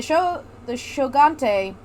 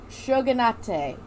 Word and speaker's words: shogunate: When the Shogante? Yep. Shogante? Shogunate. Sorry, I had myself muted. It's pronounced shogunate.